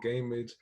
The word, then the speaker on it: Gammage: mispronounce your name is it gamaj or i've heard it pronounced every way gamas gamma's a gamage but it's like damage with the g that's okay i'm so